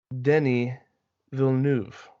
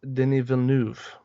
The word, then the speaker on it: Denis Villeneuve: None other than Denis Villeneuve. Now, I would like to point out to our dear listeners, I have pronounced that perfectly for anyone who is French.